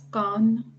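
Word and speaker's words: Cannes: to pronounce this uh it should be pronounced as con that's right so this is can okay the can's Film Festival that you hear about which is held in France every year it's actually not canes it's can this is the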